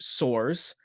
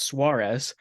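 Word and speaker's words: Soares: last name was pronounced Soors. It's spelled S O A R E S and that's a Portuguese name that's pronounced Suarez.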